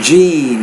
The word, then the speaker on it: gene: chain has been yet it's no gene gene that's a longer sound gene I think at autism